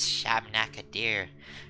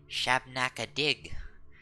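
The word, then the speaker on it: Shabnak-Adyr: shabneck a deer no who says shabnac a deer saying it wrong you have to say shabnack a dig there's less evil this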